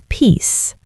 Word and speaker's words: peace: Mike, make sure you release a little puff of air. Protects. Peace.